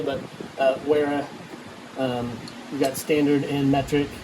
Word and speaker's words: Wera: Some wear, I think Vera is how you say it properly, but Wera, you got standard and metric hex wrenches with the ball tip end.